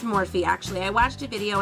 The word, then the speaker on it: Morphe: m401 I think it's morphe actually I watched a video and it's not morph it's actually morphe but I don't know